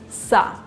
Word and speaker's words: со: Well, in front of these letters plus another consonant, you use sa.